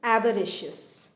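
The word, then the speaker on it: avaricious: Okay, next one इज एवरिशियस। एवरिशियस, एवरिशियस, pronunciation पे ध्यान दें, एवरिशियस।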